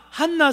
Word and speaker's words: 한나: 하나님과 한나 사이에 말입니다. 한나, 따라합시다. 한나. 지난 제가 발음을 한나라 그래. 한나. 이 히브리어 원어 발음으로 한나입니다.